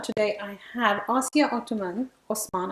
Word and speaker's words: Othman: Osman, I hope it's Osman, isn't it? Yeah. Othman. Othman. It's the way it's spelled.